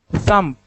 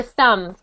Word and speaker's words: thumb: Thumb. Good. We don't need to pronounce the B for thumb.